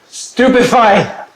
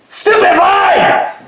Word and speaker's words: Stupefy: Stupify. Nothing happens. Your pronunciation is as bad as your order. Stupidify.